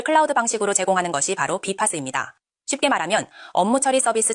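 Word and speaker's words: BPaaS: 바로 BPASAS. 발음은 비파스입니다.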